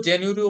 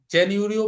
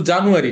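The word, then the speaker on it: January: যায় নেটিভদের কাছ থেকে কিন্তু জানুয়ারি না আমরা যেভাবে বলি সেভাবে এবার ক্লিয়ার হ্যাঁ হ্যাঁ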